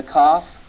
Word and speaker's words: Kaf: The soft pronunciation of the Kaf is the one we've learned. It's the CH, as in Bach.